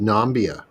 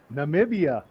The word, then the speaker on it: Namibia: was that video uh he was pronouncing it nambia oh nambia yeah I heard that one as well like nomia where's that must mean Namibia yeah that one I